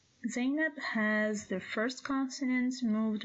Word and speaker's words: Zainab: So this name consists of only 2 syllables, Zainab, Zainab.